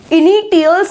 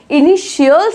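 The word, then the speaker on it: initials: इनिटियल्स नहीं बोलेंगे, इनिटियल्स नो, it's wrong, इनिशियल्स इज the correct pronunciation.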